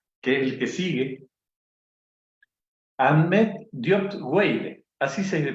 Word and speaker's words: Ahmed: Ahmed Diop Weide, así se pronuncia Ahmed.